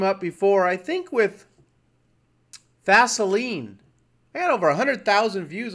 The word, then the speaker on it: Vaseline: You know, like baseline, like a baseline in a song, Baseline. Well, Vaseline to me is baseline, but it's pronounced Vaseline.